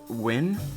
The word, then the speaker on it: Nguyen: She's going with her friend Maya Nguyen, I believe it's pronounced.